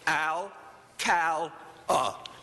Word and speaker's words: Alcala: And as a teacher, break it into 3 syllables. Al-cal-a.